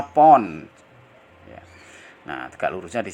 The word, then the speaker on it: lb: Jadi LB itu pon gitu ya. Mahasiswa jangan bingung bacanya pon.